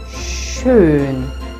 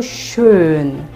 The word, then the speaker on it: schön: If you practice it with closed vowels like o, u, ö, ü, it'll be easier to pronounce the CH. So schön. It is easier because your lips are already there. So schön. You just have to remember to lift your upper lip. So schüchtern.